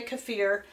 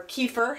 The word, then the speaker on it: kefir: of just orange elderberry kefir or kefir however you want to pronounce it I think either way works and you can tell